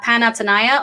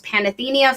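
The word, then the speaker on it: Panathenaia: from skira to uh panatsunaya also known and also known as panathenia for people who don't know how to pronounce greek um which was the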